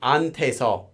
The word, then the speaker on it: 한테서: a hiat here, but the pronunciation of this becomes more like 안테서 in most cases. And that's not an exception. That's just because typically the hiat in Korean is a very soft sound.